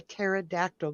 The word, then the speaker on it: pterodactyl: can't hear hear a pterodactyl going to the bathroom because they're all dead I don't know because the p is silent way is the answers